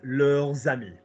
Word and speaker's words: leurs amis: Now do the link. Leurs amis. There's amis. Lovely, because that shit's plural friends. Mes amis, tes amis, ses amis, nos amis, vos amis, leurs amis.